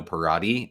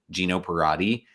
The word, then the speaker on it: Peratti: my name is geno peratti last name is pronounced like karate with a p gino peratti and i'm a communication